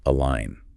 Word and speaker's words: align: Align. And just a quick pronunciation reminder that G is silent.